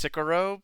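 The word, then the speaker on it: Scirocco: and by the way his name is uh pronounced sicaro but it's like spelled way different it's like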